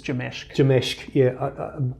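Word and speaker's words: Jamsek: I always call it JAMSEC, but I've been told it's Jameshk.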